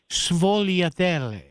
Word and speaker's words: Sfogliatelle: Jesse Leavenworth about the pronunciation of Sfogliatelle. Oh, okay. So yes. So the correct, Mr. Har, a Roman Italian. In other words, the Italian I took in high school, Sfogliatelle.